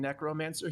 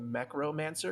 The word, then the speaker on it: necromancer: He's not saying necromancer, he's saying mechromancer, because he's not really sure that necromancer's how you say it. He thinks it's mechromancer.